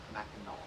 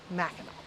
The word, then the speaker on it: Mackinac: Yeah, Mackinac. Mackinac.